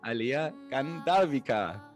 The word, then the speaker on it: Aleah Gandharvika: Umso mehr freue ich, dass es jetzt weitergeht mit einem spannenden Interview mit der wunderbaren Alea Gandharvika. Ist es richtig? Ja. Habe ich es richtig ausgesprochen?